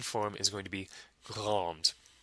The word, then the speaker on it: grande: The feminine form is going to be grande. You just pronounce the D because of the E at the end.